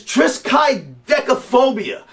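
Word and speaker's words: triskaidekaphobia: have I think the the proper pronunciation is trisk decophobia that would be the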